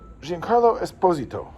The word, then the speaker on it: Giancarlo Esposito: At the beginning of the film, there's this action piece, and the big bad is Giancarlo Esposito. That's apparently how he pronounces his name, and he's Sidewinder.